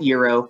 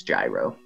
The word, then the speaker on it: gyro: it the gyro sensor not euro it is spelled the same way euros are delicious but in this case it's gyro oh we did it